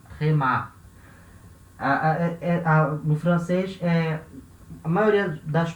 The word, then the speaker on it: tréma: maioria gigantesca das palavras, elas vão ter a sílaba tônica no final, tá? A última sílaba é a sílaba tônica. Na maioria gigantesca das palavras, como nesse caso a gente lê tréma, tá?